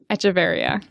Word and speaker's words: Echeverria: I wrote it there, and I never thought about how to pronounce that. Echeverria. Echeverria.